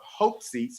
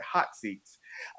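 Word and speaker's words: Haute Seats: am the owner of hope seats it's pronounced hope it's a French word above people in the south they don't know French very well so they call it hot seats I started hot seats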